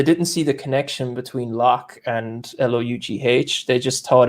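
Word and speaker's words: Lough: the way i spell my surname and it's pronounced lock so lock re lock derrick lock iron like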